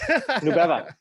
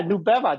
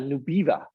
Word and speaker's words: Nubeva: Yeah, Nubeva, nube in Spanish is cloud. And so I kind of wanted something that was easy to pronounce for immigrants.